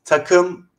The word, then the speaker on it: Takım: Haroon, did I pronounce that correctly? It's Takım 2. Takım. Takım 2.